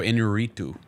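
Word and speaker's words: Iñárritu: I like the director Alejandro Inarritu. I like that pronunciation right there. I like the way you rolled your tongue.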